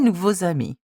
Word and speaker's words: nouveaux amis: As you can see, when there is an X at the end of the adjective and a vowel beginning just after that, you must pronounce it as a Z sound. Mes nouveaux amis.